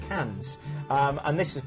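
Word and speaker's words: Cairns: cans or cans it's it's spelled cans but pronounced cans um and this is of course Great Barrier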